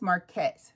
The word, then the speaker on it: Marquette: So, my name is Marquette, but if I was trying to tell someone how to say my name, I would say M A R- C A T.